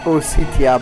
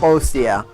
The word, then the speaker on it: Ostia: And I know it says Ositia, but it's Ostia. This is the European version of the game, and it's spelled Ositia, but in the American version the I in the middle is not there.